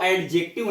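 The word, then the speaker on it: adjective: एडजेक्टिव verb adverb है ना तो बट वो एडजेक्टिव यहां पे दी साइलेंट है इसका करेक्ट प्रनंसीएशन है एडजेक्टिव नेटिव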